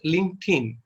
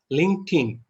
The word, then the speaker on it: LinkedIn: So it's called as LinkedIn. LinkedIn. The pronounce of D is look like Tin, LinkedIn.